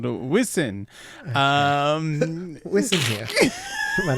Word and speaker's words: Wisin: All right, track 4 is Amor, featuring Wisin. Is that how you say it? Yes. Why are you laughing? Why is it so funny? Well, because we were calling him Wizen and Yandel last time.